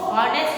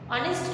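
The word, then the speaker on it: honest: इसकी spelling H से start हो रही है, लेकिन हम इसको हॉनेस्ट नहीं बोलेंगे, इसको बोलेंगे ऑनेस्ट. ऑनेस्ट क्यों बोलेंगे? क्योंकि इसमें एच साइलेंट रहता है. साइलेंट, एच बोलता नहीं है, इसलिए इसको बोलेंगे हम ऑनेस्ट.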